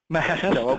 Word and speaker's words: Majesto: Outwork, Exaggerator, and Majesto, which I may or may not be pronouncing correctly. And then we've got Jonathan. I saw Travis tweet about it. He's going to call it Mahesto. Mahesto. Okay, that is right. That's I think that is correct.